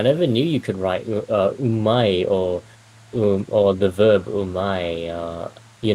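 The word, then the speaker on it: 上手い: as an e adjective, it actually is pronounced as umai, which does not mean yummy, which is very confusing.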